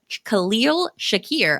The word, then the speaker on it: Khalil Shakir: Um Khal Khalil Shakir, I did it.